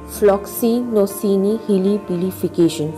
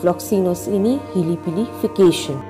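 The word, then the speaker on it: floccinaucinihilipilification: Confused how to pronounce that word? Well, don't worry, I've actually broken it down into simpler form. Floxinocini helipilification. Floxinocini helipilification.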